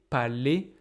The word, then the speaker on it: palais: Par exemple, balai, palais, pour moi, ils ne sont pas prononcés comme ça. Ils sont prononcés comme é.